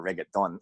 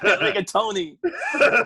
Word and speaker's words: rigatoni: if I call up a restaurant and order rigaton. With a side of Oreos. A dummy like me wouldn't even know you're saying it wrong. Rigatoni.